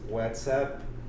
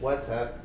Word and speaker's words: WhatsApp: All right, so you could get his WhatsApp, and because it's an app, it's not up, so it's WhatsApp.